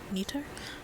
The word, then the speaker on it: Nether: Neater. They're pronouncing it neater.